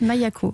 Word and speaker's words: Maïa-Ko: Vous avez 36 ans, donc vous avez fondé Maya-Co, ça se prononce comme ça? C'est ça, Mayako.